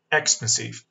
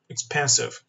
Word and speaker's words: expensive: یک، بچه ها بشون، یک expensive، دو expensive. کدوم یکی از این دوتا تلفظ درست بود؟ یک یا دو؟ دو. حالا اینو از کجا فهمیدن؟ از دیکشنری. ببین expensive. ببین stress falls on the second syllable.